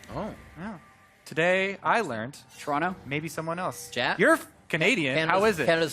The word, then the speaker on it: Toronto: by a tweet it's pronounced Toronto with no uh no T oh yeah today I learned Toronto maybe someone else you're